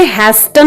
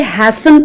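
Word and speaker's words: hasten: यहाँ पे हैस्टन नहीं इसे पढ़ेंगे, इसे हैसन पढ़ेंगे, टी साइलेंट है यहाँ पे, ठीक है।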